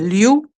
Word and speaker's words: Liu: I had, there's a difference, not Louis, but Liu, Liu.